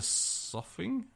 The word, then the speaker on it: soughing: Still the soughing? Is that the word soughing? Soughing, yeah. I don't know what I'm that glad word you is. got this one. Rhymes with coughing, but it's got an S.